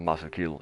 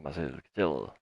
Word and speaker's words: Marcel Kittel: It's not Marcel Kiel, it's Marcel Kittel.